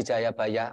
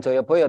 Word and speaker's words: Jayabaya: sang prabu Sri Aji Jayabaya mohon maaf sebelumnya bacanya bukan Joyoboyo tapi Jayabaya karena Jayabaya ini Raja